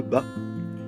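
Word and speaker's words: Batz: Alors ça s'écrit Bats, ça se prononce Bas.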